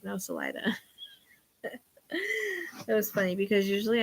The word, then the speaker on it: Salida: And I would go to say it wrong, and she'd be like, no, Salida.